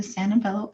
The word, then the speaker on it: Sanvello: And then for our students here at Texas A&M University, you can download the Santabello app, which is spelled SANVELLO, which is free for students provided